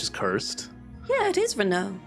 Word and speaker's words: Renault: I heard him pronounce that name as Renault, which is cursed. Yeah, it is Renault.